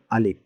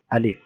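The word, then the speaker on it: ألف: আলিফের উচ্চারণটা হবে, অর্থাৎ মুখ ও গলার খালি জায়গায় বাতাস দু ঠোঁট দিয়ে বের হবে এবং উপরে যে দুটা দাঁত আছে উপরের দাঁতগুলো নিচের ঠোঁটের পেটের সাথে লাগবে, যেমন আলিফ।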